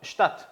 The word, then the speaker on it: statt: 자, 그리고 또 하나가 start라는 표현인데, 자, 우리가 발음 주의할 게 요거하고 똑같죠. start, die Stadt.